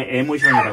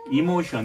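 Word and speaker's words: emotion: 어떤지 이걸 갖다 우리 에모션이라 그랬죠 이모션 에모션 영국 발음하고 미국 발음하고 막 섞고 발음합니다 나 영국 발음이 더 좋아 미국바람 너무 꼬아 자 에모션 예 그래가지고 여기서 내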